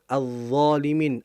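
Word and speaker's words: الظَّالِمِينَ: Azzalimin. Addo. Lamnya enggak jelas tapi langsung masuk ke huruf dnya.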